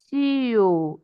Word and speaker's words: tio: Irmão, irmã, avó, avó, tio. You see that? Those are two syllables, but the first syllable will be stressed because it is the second to the last.